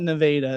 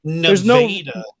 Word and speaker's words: Nevada: They call it Nevada, is how they say it. Nevada. There's absolutely no real reason why they should pronounce it different.